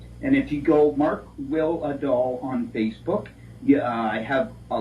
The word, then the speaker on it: Wihlidal: last name is will will a doll just that's exactly how to pronounce it like w-i-l-l-r and doll that's how it's pronounced pretty close anyway and if you go